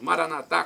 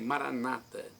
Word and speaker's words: Maranatá: Nós católicos falamos Maranatá com a tônica na última sílaba, nossos irmãos protestantes dizem Maranata com a tônica na penúltima sílaba.